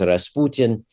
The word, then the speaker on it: Rasputin: and all that and Rasputin uh in Russian pronounced Rasputin is a fairly common